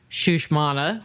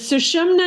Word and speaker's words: Sushumna: In your opinion, in going up the spine, we have the Shushmana, of course, didn't probably say that right.